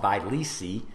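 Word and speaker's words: Vyleesi: better name just because i can at least pronounce it it's called by lysi v-y-l-e-e-s-i and it's more recently approved and again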